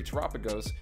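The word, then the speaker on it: Terapagos: Tropigos, pronounced like Galapagos.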